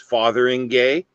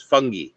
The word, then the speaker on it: Fotheringay: Wodehouse that if you pronounce it the way it's spelled, it's Fotheringay, but apparently the pronunciation is fungi.